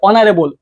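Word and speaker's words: honorable: এটা কি, এটা এইচ এর উচ্চারণ অ, কি বলতো অনারেবল অ।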